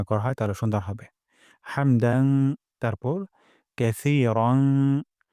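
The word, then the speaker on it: حمد: পড়ে ফেলবো রব্বানা ওয়ালাকাল হামদ এখানে হামদু আছে এখানে আমরা ওয়াকফ করব অথবা হামদু পড়তে পারি তবে ওয়াকফ করলে সুন্দর হয় হামদ গলার মাঝখান থেকে হা উচ্চারণ করব রব্বানা ওয়ালাকাল হামদ আর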